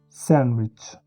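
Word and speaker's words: sandwich: और डी का जो कॉम्बिनेशन है उसमें डी साइलेंट होता है, एन की आवाज़ आती है, हैंडफुल, सैंडविच।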